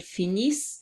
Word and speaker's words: finissent: And I remind you that you don't pronounce the E-N-T, you just pronounce what's before. So you will say ils finissent and elles finissent.